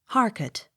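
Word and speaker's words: Harcourt: o u r t harket accent on first syllable h e a t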